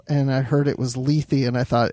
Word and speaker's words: Lethe: say it right and it is Lethe by five different independent sources Wow okay so there